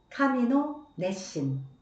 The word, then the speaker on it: 神の熱心: 하나님의 열심을 일본어 성경에서는 카미노 내신 카미노 내신이라고 말합니다. 네. 열심이라는 한자 그대로를 일본어로는 내신이라고 발음합니다. 네.